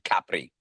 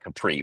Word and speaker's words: Capri: You're also going to be traveling by boat to Capri. Uh some people call it Capri, but it's properly pronounced Capri.